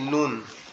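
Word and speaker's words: نون: আমাদের জিহ্বার আগা উপরের তালুর সাথে লাগবে। লাম এবং নুন জিহ্বার আগা উপরের তালুর সঙ্গে নুন লাগবে, লেগে আওয়াজ হবে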